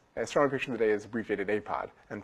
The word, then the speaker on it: APOD: Astronomy Picture of the Day is abbreviated APOD and pronounced APOD.